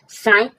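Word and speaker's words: sigh: जैसे हाई, हाई means ऊंचा, यहाँ पर क्या हुआ है अंत में जी एच है, हाई, हाई मीन्स ऊंचा, जी एच साइलेंट है। साई, साई मीन्स आहें भरना, आहें भरना।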